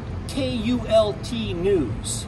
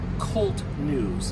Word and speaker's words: KULT: all seriousness though um I want to make it clear that it's pronounced k-u-l-t news we are not cult news it is Kult news this is an occult